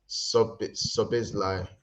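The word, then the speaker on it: Szoboszlai: Lads, it's pronounced Sobizlai. The Z is silent.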